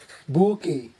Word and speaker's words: bouquet: In French, the QU is pronounced together as k, k, and the T is silent, giving this a soft and elegant sound. Bouquet.